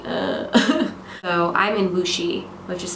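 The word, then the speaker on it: Wuxi: my time normal time for them so I was just like uh so I'm in wooi which is spelled wxi but pronounced wooi um wooi is a what they call a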